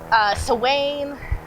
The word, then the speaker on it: Samhain: It's Irish. Samhain, Samhain, Sawain. So I just say Samhain because that's how I was trained.